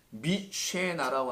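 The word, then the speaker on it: משנה: 이 갑절을 갖다가 미쉐나라고 하는데요. 자, 쉐나라는 나가 어떻게 쓰냐? 쉐나 그냥 하구나. 쉐나에다가 요것만 붙는 거예요. 맴이라는 단어인데 미 쉐나 미쉐나 이렇게 발음해요.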